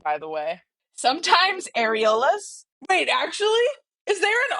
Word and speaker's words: Aeolus: How are we all pronouncing that dude's name, by the way? Sometimes Aeolus.